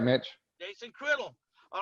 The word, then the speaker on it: Criddle: Jason Criddle.